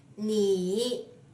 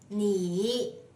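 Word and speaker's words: 你: me it means you when this word stands alone or occurs before a pause you need to pronounce it using the same method first div your tone to the lowest point of your vocal cords and then rebound it lightly like this knee knee knee okay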